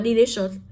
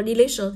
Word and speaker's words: delicious: vậy có nghĩa là cứ có cái đuôi đó thì trọng âm sẽ rơi vào trước âm đó vậy thì cô có từ này cô đọc như sau đọc là delicious đọc là delicious Vậy giờ trước âm